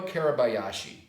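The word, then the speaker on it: Kuribayashi: His name for the Japanese now, General Caribou Yashi. General Caribou Yashi, I'll spell it for you, K-U-R-I-B-A-Y-A-S-H-I.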